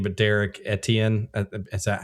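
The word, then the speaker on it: Derrick Etienne: Uh and I'm probably going to butcher his name, but Derek Etien, is that how you say it?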